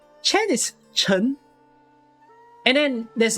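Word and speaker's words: Ch'en: operator that we pronounce chen chen is not pronounced as chen chen is chun and then there's like uh two yay which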